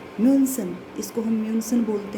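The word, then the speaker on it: München: जैसे म्यूनसन, इसको म्यूनसन बोलते हैं, म्यूनसन।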